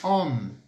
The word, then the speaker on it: homme: primeira palavra que nós vamos ter aí é homme. Homme. Homme. Escreve-se como H-O-W-M-E. Então H-O-M-M-E, tá? Palavra homem em francês. Como que a gente vai falar isso, então? Se colocarmos aí no plural, les hommes, nós fazemos a liaison, a gente faz a